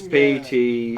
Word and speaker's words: Pteranodon: Isn't the P silent? Pteranodon? Is it Pteranodon? Unless it's a pterodactyl. It's a pterodactyl. No, sorry, I it's think. Pteranodon. The P's silent. It's Pteranodon.